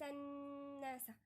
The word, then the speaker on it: الناس: يبقى ورأيت الناس، أي نون هنا في المصحف زي دي كده هنغن فيها عليها شدة اهي، أو ميم عليها شدة نغن فيها.